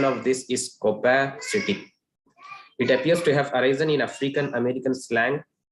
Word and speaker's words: copacetic: The pronunciation of this is copacetic.